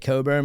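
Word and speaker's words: Cockburn: Do you you know the um ultimate liars I think you say it Coburn but it's spelled Cochburn like the family of the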